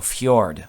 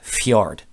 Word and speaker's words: fjord: The proper way, because it's a Norwegian word, is with a J, so fjord, okay? It's kind of pronounced as a Y, fjord, all right?